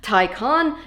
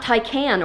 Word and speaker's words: Taycan: I have been educated that it is supposed to be pronounced Taycan, not Taycan or Taycan.